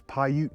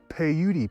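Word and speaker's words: Paiute: and then the one on the left is pyute Peak yep it's pronounced Pou Peak when I did that video I was calling it peudi Peak or something the first like three4 of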